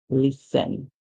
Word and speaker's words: listen: we would say us the t is silent like it is in the word listen so T is a